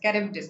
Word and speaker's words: Charybdis: Was between Scylla and Charybdis. Yes, Charybdis. That's how it's pronounced. The H is silent.